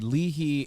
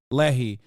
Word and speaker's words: Lehi: And out of them, the Leahy and am I saying it right? Lehi. Lehi.